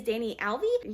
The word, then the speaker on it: Danyel: the diverseathon readathon the host this month is danny alvey that's how you pronounce her name i'll put her information in